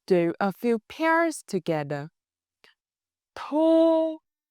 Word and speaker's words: thu: When you say words with u, make your lips round like a small circle.